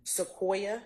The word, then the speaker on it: Sequoia: the name of seoa Cade what's your name Sequoia how do you spell that that's Miss Weaver s e q u